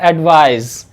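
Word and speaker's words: advise: वहीं पर अगर हम अगले वर्ड की बात करें तो ये वर्ड है एडवाइज, एडवाइज, एडवाइज। यहाँ पर भी इसका प्रोनाउंसिएशन जेड के साथ होगा, एडवाइज।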